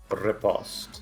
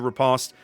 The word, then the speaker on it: Riposte: Riposte. Riposte. You got to roll your R's like a proper, what is that?